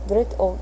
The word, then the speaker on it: og: Is dritt og dra. So you say dritt og dra, or dritt og dra. It's OG technically, but I don't think they pronounce the G.